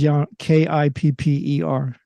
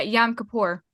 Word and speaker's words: Yom Kippur: It says Yom, Kipper. Yeah, Yom Kippur. Yeah. Just trust us. No or in the way this one is spelled. It's Yom Kippur.